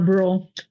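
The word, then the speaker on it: Brule: Buell? Lower Burl.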